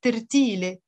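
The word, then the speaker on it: ترتيل: In the singular, it's tertile. Tertile, tretil.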